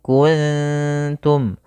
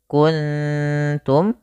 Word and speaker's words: كنتم: Kemudian pada lafal kuntum sama, kita mendapati adanya nun sukun bertemu dengan huruf ta, yang mana tak termasuk huruf ikhfa, maka kita baca dengan bacaan ikhfa. Maka cara membacanya yaitu samarkan nunnya kepada huruf ta. Makhraj daripada ta yaitu ujung lidah kita menempel dengan gusi atas, maka wa in kuntum, ikhfanya ke kaf, wa in ku langsung kuntum.